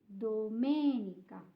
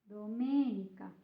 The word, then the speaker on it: domenica: the first one is and Domenica Dominica it's in the second syllable so something else I